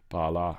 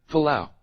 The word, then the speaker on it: Palau: Couldn't spell that. What else did I look up? What other crazy shit? Pala. I hear it. Let's listen, guys. Let's listen together. Palau.